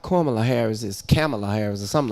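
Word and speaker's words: Kamala: say this you hearing kamla is the correct pronunciation but I need I'm I think kamla Harris is the correct pronunciation of her name okay I think kamla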